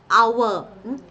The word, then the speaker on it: hour: Then hour. It took an hour. It took an hour. ആ sound ആണ് an hour.